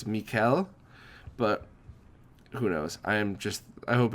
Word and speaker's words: Michaël: I called him Michael in the interview because sometimes I'm just a stupid American as much as I wish I wasn't. So, sorry. I'm pretty sure it's Michaël.